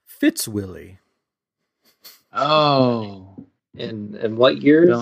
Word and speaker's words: Fitzwilly: Fitzwillie. That's what I figured. Okay. Just making sure it wasn't like Fitzwheelie.